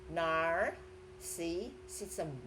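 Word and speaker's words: narcissism: First of all, it's when you pronounce the words, just slow down, right? So with you separate syllables, so which make you to pronounce it easier. So it's nar, si, sism.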